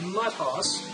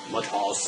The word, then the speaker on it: Mutt Hoss: Supposed to pronounce it Mutt Hoss, like a horse. Mutt Hoss.